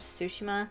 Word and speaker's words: Tsushima: differently this time because i'm pretty sure gosutsushima is not the correct way to say it so it's more like ghost of sushima i don't know i'm